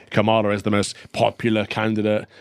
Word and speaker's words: Kamala: The BBC explained how to pronounce her name, Calvin. Go on. Kamala.